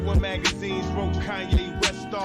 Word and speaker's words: Kanye: It's Kanye, but some of my plastics still say Kane.